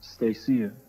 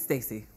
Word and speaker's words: Stacy: But when you had him on and Stacia, I think I pronounced it right, Stacia. It's Stacy.